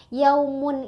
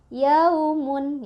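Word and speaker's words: يَوْمٌ: Yaumun ini kita bacanya lunak aja. Yaumun. Yaumun ya. Enggak yaumun. Enggak yaumun gitu ya.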